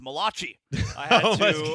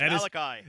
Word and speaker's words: Malachi: thought his name was Malachi. I had to correct her. That is not how you say his name. It's Malachi. That is not it. It is Malachi, and they call him Baby Jesus for a reason.